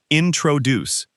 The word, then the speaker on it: introduce: In the word introduce, the stress is on the last part, introduce.